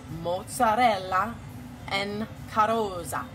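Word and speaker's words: Mozzarella in carrozza: And by the way, R's are rolled. So, in order to pronounce this correctly, you have to say Mozzarella en Carozza.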